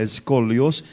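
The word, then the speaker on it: σκολιός: tu vida la palabra maligna es interesante se pronuncia escolios que significa estar doblado o torcido como esta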